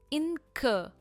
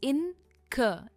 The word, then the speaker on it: incur: Incur. We don't pronounce the R at the end. It's incur.